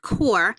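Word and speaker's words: QoR: in high quality paints the core water color pronounced core line is made with a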